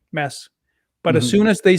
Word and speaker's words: Mads: my name which is the real way to say it is mess oh like no d sound at all mess yeah all right